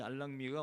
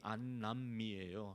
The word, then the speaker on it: 안남미: 날아가는 안락미 소위 알랑미이 알랑미가 원래 발음이 안남미에요 아시는 분 아시겠지만 베트남